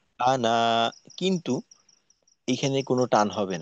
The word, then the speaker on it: أَنَا: কায়দাটা কি কায়দাটা হলো আলিফ দিয়ে যদি এভাবে আনা লেখা থাকে তো এই আনা টানা যাবে না আলিফ আনা টানা যাবে